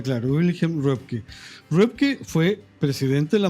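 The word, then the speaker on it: Röpke: de mercado claramente a Repke. Repke, algunos incluso lo ponen como sociólogo. Que se escribe R-O-P-K-E. Claro, con umlaut, con dos puntitos en la. Claro, Wilhelm Repke.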